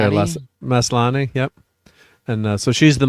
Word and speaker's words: Maslany: Maslany, yep.